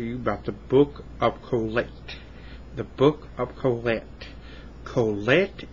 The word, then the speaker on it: Kohelet: I want to talk to you about the book of Kohelet. The book of Kohelet. Kohelet in Hebrew is Ecclesiastes. And Kohelet is spelled K-O-H-E-L-E-T.